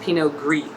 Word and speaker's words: pinot gris: for the most part the consonant at the end of the word is not to be pronounced unless there is a vowel after that okay i think that's